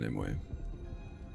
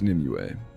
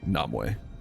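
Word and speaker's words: Nimue: I'm so I will always pronounce it Nimway. Perhaps Nimua, but never Namu.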